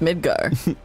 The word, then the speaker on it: Midgar: from ffviii whatever that stands for uh it's pronounced midgar just soaking in the atmosphere look at that